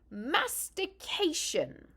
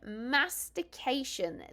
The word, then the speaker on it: mastication: going to tell you be careful how you say it mhm one slipped up letter and you could be rather embarrassed uh so are you ready for the word it is mastication okay mastication this is the act